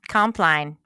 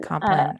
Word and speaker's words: Compline: Compline. No. It's plenty of people call it Compline. That Okay. I think it's Okay. an alternative pronunciation. Compline or Compline. Both are Yeah, appropriate. Okay.